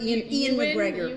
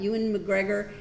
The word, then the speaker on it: Ewan McGregor: How do you say his name? Ian McGregor. Ian McGregor, but EWAN. Ewan McGregor.